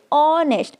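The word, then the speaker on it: honest: person क्या है ऑनेस्ट अब आप इसको सही से प्रोनाउंस करिए ऑनेस्ट अगर आप इसे नेस्ट पढ़ेंगे तो आप इसका राइट आंसर नहीं जान पाएंगे ये क्या है ऑनेस्ट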